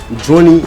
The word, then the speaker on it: Johnny: Johnny, it rhymes with money.